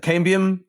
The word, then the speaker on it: Cambium: Is that Cambium Global Solutions?